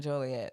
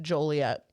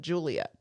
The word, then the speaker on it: Joliet: ask for it but if you pronounce the city of Joliet incorrectly specifically if you call it Juliet that is a I